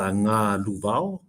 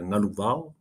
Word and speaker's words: Ngā Luvao: Oh, it was definitely close, but yeah, it's pronounced the Ngā Luvao, so Ngā Luvao.